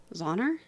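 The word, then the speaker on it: Zauner: u n e r how would you say that zoner yeah okay I think I probably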